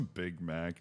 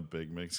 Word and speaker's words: Big Mac: It's a Big Mac, not a Big Mix, because it's spelled Mac.